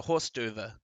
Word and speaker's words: hors d'oeuvre: Yeah, and as Evan says, it's a horse d'oeuvre. Yeah, you were fine with the hors d'oeuvre.